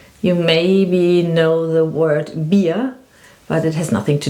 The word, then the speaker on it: Bier: Here we have a combination of two letters, I and E. You say I and E. So you have to be careful with these two letters. So if you have the letter, in German I pronounce it now, I, E, then it means you have a long I, beer.